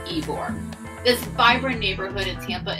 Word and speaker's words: Ybor: Some will pronounce it Ybor, but it is pronounced Ybor.